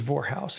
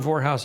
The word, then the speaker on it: Vorhaus: I'm doing stand-up comedy and and I say, "Ladies and gentlemen, my name's is Vorhaus. It rhymes with whorehouse.